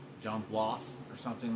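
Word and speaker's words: Blaough: His name is Sean Blah. It's like I know his last name is pronounced very weird. It's like B L A O U G H blah. John Blo or something like that.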